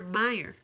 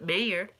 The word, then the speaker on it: Oscar Mayer: thought it was Meyer I've always thought it was Oscar Meyer not mayor and even though I knew that we pronounced that mayor I would spell it as Meyer weird